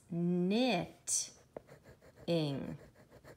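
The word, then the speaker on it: knitting: dot would go in between them silly silly next we see a bad cat over here bad cat in and the K is silent it's knit in so we have to color these T's because they're the same knit in and dr.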